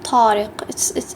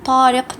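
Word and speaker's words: طارق: the T in English the letter taw produces the same sound st but it's from throat a deeper sounding tea and not from the top of the tongue for example we have the name tarak tarak nautic so there is difference here now the letter huh for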